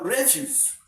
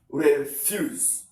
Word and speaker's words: refuse: the essence of inonation Refuse. Refuse. Okay. Now let's assume that this refuse refuse is a noun describe the first syllable. Then the second one you don't stress it.